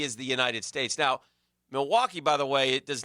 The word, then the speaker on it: Milwaukee: Is it Milwaukee beef? I wasn't sure. Yeah, actually, it's pronounced Milwaukee, which is Algonquin for the good land.